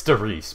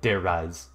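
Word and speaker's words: Terraria: perfect combination of everything it's therese please just i don't even care if that's the proper way to pronounce it it's sturdy stop saying dare rise there rise it's therese do you agree with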